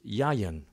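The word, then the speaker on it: יַיִן: Wine is the Hebrew word pronounced yayin, and it means wine of every kind, fermented and unfermented.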